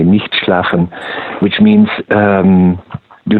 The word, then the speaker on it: Nicht schlafen: I can pronounce this in the German way, Nicht Schlafen, which means do not sleep.